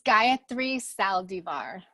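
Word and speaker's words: Gayatri Saldivar: actually solve it now tell me I completely butchered your name so say it properly for me yes it's Gayathri Saldivar so what is the origin of that name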